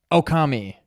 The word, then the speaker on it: Okami: It's Oki. 3 syllables. Okami. Okami.